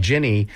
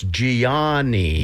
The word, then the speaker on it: Gianny: is first of all, her name is spelled Gianny. So you look at it and you think, is that Ginny? Wait a minute, is that Johnny? It's Gianni. Yes.